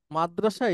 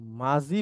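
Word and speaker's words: ماضي: দেখবেন এভাবে আল মাওদি মানে হচ্ছে অতীতকালীন ক্রিয়া মাদ্রাসা এটাকে মাঝি বলা হয় এই যে মাঝি মানে দত কে বর্গীয় জ দিয়ে দিয়ে উচ্চারণ করা হয় সব স্কলার এভাবে মানে আমাদের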